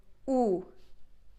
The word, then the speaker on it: u: So u is as in English, when 2 o comes together, we pronounce it so close sound with that, as in soon, like u, a little